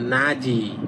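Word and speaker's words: 낮이: যেমন দেখেন নাজি মানে দিন। আপনি যদি এটা পড়েন নাত ই তাহলে এটা হবে না। হবে নাজি।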